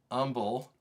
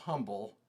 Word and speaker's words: Humble: Just a little bit south of Umble. It's not pronounced humble. It's Umble, Texas.